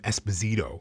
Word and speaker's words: Esposito: For many years, I pronounced my name Espazito and I grew up with um you know the Espazito brothers who were hockey players. So, I understood that to be the pronunciation.